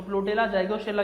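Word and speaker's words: Plutella xylostella: प्लूटेला जाइगोस्टेला बोल दो, या फिर अब देखिए इसमें एक्स वाई साइलेंट रहता है, तो प्लूटेला जाइगोस्टेला क्या होता है इसका जनरली अपना क्या होता है साइंटिफिक नेम होता है।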